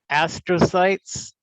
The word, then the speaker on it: astrocyte: So we have astrocytes, microglia, ependymal cells, oligodendrocytes, and Schwann cells. And that's how you pronounce those words: astrocyte, microglia, ependymal cells, oligodendrocytes, and Schwann cells.